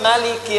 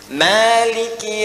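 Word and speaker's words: مالك: ketika Anda masuk misalnya Maliki yaumiddin ada dua cara bacanya bisa dibaca panjang bacaan hafz dari asid iki yaumiddin mimnya dua harakat dibaca panjang Maliki yaumiddin bisa dibaca pendek mimnya tidak panjang ya riwayat misalnya warsy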